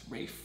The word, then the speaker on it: Raif: I'm like, no, it's not T-H, it's an F. It's Raif.